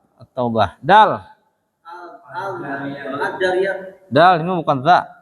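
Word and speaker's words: التوبة: At-Taubah apa Al-Taubah? At-Taubah.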